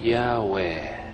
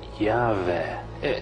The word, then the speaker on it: Yahweh: Agora alguns pronunciam o nome Yahweh ou Yahvé.